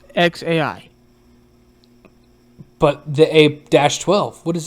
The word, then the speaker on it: xAI: Yeah, I guess it's just X, like the letter X, like the letter X. Then AI, how you said. Oh wait, so it's X, then AI, like how you said the letter A, then I. So it's just XAI.